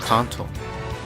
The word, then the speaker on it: Kanto: But if it's like the actual Japanese pronunciation and everything, then it should be Kanto.